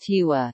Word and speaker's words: Tigua: The Tigua, pronounced Tiwa, is one of three Indian tribes in Texas whose sovereignty is recognized by the United States government.